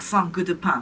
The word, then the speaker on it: Saint Goutte de Pain: It's French, so you pronounce it like Saint Goutte de Pain. Saint Goutte de Pain. Yeah, this is how you pronounce French.